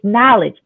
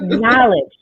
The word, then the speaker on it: knowledge: And the N in passion is knowledge. I know it's a K in there, but the K is silent. We all know it's silent. So it's knowledge.